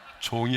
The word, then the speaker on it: 종: 발음을 중이 아닙니다 이렇게 하면 안 돼요. 종이 아닙니다 그래야지 중이 아닙니다 그러면 안 됩니다.